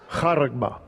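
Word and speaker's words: χάραγμα: So you know how it's pronounced. Strong's G 5480. Haragma.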